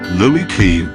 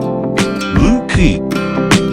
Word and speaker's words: Looe Key: And it's not pronounced Looe Key as you would expect. It's pronounced Looe Key.